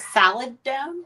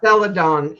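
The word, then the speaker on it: celadon: That seladon is also pretty. The the f What did you call it? Saladon. Saladon. C E L D O N I think is how it's spelled.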